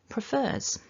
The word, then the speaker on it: prefer: all begin with pr now the second syllable is the stressed syllable you can see from